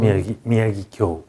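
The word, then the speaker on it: Miyagikyo: Is it Miyagi-kyo or Miyagi-kyo? Miyagi-kyo, yes. All right, very good. Very, very difficult to pronounce.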